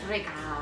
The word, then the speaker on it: recao: Ricao? Is that how you say it? Ricao? Recao.